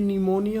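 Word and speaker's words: pneumonia: मैं समझ गया ना सभी के नीचे पी साइलेंट वर्ड है कब बोर्ड निमोनिया ठीक है यह फिल्मों में नहीं होगा यह निमोनिया होगा सबको निमोनिया हो जाता है ना छोटे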